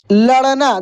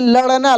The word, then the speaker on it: लड़ना: और ड के नीचे जब बिंदी लग जाता है तो ड की तरह ही उच्चारण होता है, लेकिन कैसे? ड, जैसे लड़ना, देखिए लड़ना, लड़ना, लड़ना, ड़ ड़, देखिए कैसे हो रहा है।